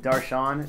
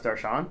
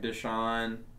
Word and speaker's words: Darshan: mispronounced yeah people miss people actually mispronounce Daron if they've never heard it before yeah what would they say they say like desan Daran uh Daran yeah I've heard people actually call you Daran stuff like that even